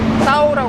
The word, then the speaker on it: Tao: But when you say it, most people pronounce it "Tao."